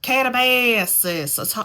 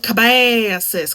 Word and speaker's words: Katabasis: I am currently reading Katabasis. I have to say it like that because everyone else keeps calling it Katabasis, but I'm calling it Katabasis because R.F. Kuang says you can say it either way.